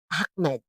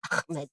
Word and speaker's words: Ahmed: That's how they pronounce their name. Parang Arabic O kasi Cairo O, Egypt. So, Arabic yan. Ahmed. Yan. Ganyan nila. Parang merong plema ka. Ganyan. Ahmed.